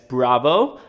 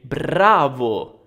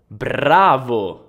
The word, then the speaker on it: bravo: so i know that in english you pronounce it as bravo but in italian we roll our r's so we say bravo bravo now remember that in